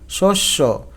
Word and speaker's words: শস্য: যেমন ধন্য নয় ওকার শস্য এইযে সটা ওকার হয়ে গেল। জফলার পর রসই ধ্বনি থাকলে জফলার উচ্চারণ এ হয়।